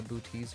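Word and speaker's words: Boötes: I pronounce it wrong anyway, so it's fitting how I call it. The boots void and not the bouties void or whatever it is.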